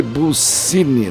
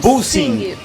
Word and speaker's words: Bulsingg: Como é que é? Jane Bussing.